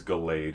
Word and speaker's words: Gallade: It's Gallade, yeah. Gallade. I mispronounce it.